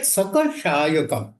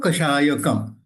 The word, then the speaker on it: कषायकम: not talking about सका बट यू are pronounce सशायकम सो you have जॉइ द कर टू स now that's what I इज आई एम आई एम not happy we I would have pronounce like that sir कषायकम so that we understand that कषाय इज the word when you से सकम then you know one कैन not understand I गॉट इट सो